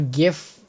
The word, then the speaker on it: GIF: It It is a GIF with a hard G. Not like the peanut butter gif because that was the correct way to say it.